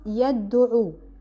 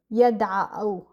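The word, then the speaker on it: يدعو: I don't put damma at the end. So, it becomes yad'u. Yad'u. Why do we do that? Because if we put damma, we can't pronounce the verb, yada'u.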